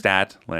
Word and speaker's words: Statlander: Oh, it's Stat. There's no R. There's no R. I thought it was Strat. Really? I thought it was silent. The The R. It is silent to the point of not existing.